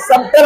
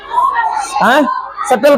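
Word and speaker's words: subtle: पढ़ेंगे डाउट आगे देखो एस यू बी टी एल क्या पढ़ेंगे सबल होना चाहिए लेन क्या पेंगे इसको सटल पढ़ेंगे बी को नहीं समझ बी अगर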